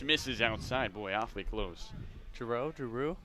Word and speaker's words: Giroux: We got Giroux on the mound. With Alex Giroux on the mound, opening offering. Catches, or just misses outside. Boy, awfully close. Giroux?